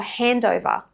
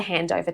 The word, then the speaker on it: handover: Now, why doesn't this rule happen for handover? I've got a handover. What's the handover today? It's because the nd are a part of 2 different syllables. So the d will link to syllable 2 with the vowel sound. So it's almost like consonant to vowel linking happening in between syllables.